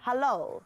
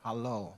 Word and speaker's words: HaLOL: It's HaLOL. HaLOL. HaLOL Festival. As in halal, but also you're going to have lots of lols, yes, right?